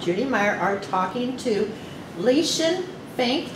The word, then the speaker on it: Lieschen: talking to lisian fink did i pronounce your name right you pronounce my name right how do you spell your first name l-i-e-s-c-h-e-n is it german it is a german name with the puerto rican pronunciation oh and my mom